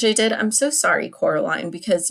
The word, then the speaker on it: Coraline: did I'm so sorry Coraline because you are always correcting your neighbors because they keep calling you Caroline but I really hope